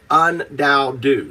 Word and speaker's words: UnDaoDu: I go by undou. Say my name. Undou. Undou. Got it. Very good. You said it good. Yeah. It's un stands for zero. Dao one do two. Undou.